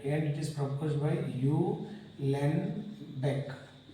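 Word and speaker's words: Uhlenbeck: Alright, and it is proposed by U. Len Beck. So silent, H is silent. U. Len Beck it is, and Gauss-Smith.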